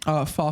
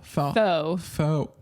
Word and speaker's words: faux: Fall fur, fake fur. Fall fur. How do you say that word? Fee-fi-fo-fum. Fall. Faux.